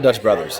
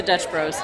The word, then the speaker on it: Dutch Bros: on the channel we're going to dutch not dutch brothers i got corrected by jason from a lot yesterday that's not his first correction we're going to dutch bros he knows how to say it we have